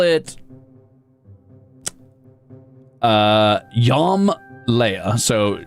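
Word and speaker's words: Jom Leia: So, let's call it uh Yam Leia.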